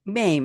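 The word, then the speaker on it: Mame: role in um was it how do you pronounce it? My was it Maim.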